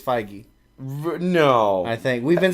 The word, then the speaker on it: Feige: Kevin Feige went on to say, we felt incredibly relieved when Michael Douglas agreed to step into the part with the charm. Feige, I think.